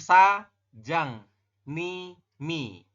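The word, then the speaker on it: 사장님이: Ini kan kita membacanya adalah pemenggalan suku katanya sajang nimi. Jadi mimnya naik ke sini, sajang nimi seperti itu atau sajang nimen.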